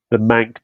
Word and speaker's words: Manc: Is I think it's obviously the first game on Sunday, and then obviously you've got the Manc Derby after it. Yeah, something else So that rhymes with mank is the word I was thinking, but yeah.